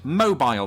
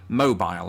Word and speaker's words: mobile: me say it because i say mobile as i said but americans they like to say mobile when referring to things that move or to the phone yeah your mobile phone that's what we say here we don't say mobile although it's spelled like that right so self unless